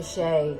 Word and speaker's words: Shay: How grateful am I to Shay, whose name helps us add to dossier of poems atrocious and verse so ferocious, because it rhymes with hooray and oy vey.